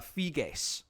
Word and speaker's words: Figes: And it's uh Fig, by the way. I looked up his pronunciation of his name and I still if I still have that name wrong, I apologize to Mr.